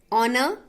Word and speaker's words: honor: Honor, H. These are the words with silent. These letters are not pronounced.